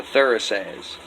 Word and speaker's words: Thurisaz: then went on to Thurisaz. Phonetically speaking, it's got a TH sound like in the, or Thor, or throughout.